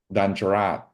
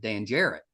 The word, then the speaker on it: Danjarat: I was like, because I would with my terrible West Virginia, I would have accent probably would have said Dan Jarrett. But it sounds so much better when you say it.